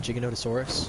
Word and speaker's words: Giganotosaurus: Yeah, down there is a level 17 Giganotosaurus, is how it's actually pronounced.